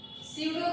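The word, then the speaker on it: pseudo: स्यूडो का आपका P silent रहेगा।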